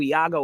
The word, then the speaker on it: Iago: And by the way, a shout out to Iago Aspas. If you guys don't know who Iago Aspas is, he's a Spanish player.